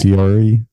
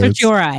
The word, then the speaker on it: certiorari: Certiorari? Was that? Is that the word? Certiorari is how I say it.